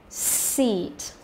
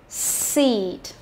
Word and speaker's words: seat: Bin, bean, chip, cheap, his, he's, it, eat, sit, seat. Chúng ta thấy không? Cứ mỗi lần mà cô phát âm cái âm y dài thì miệng của cô phải kéo căng ra, hiểu chưa?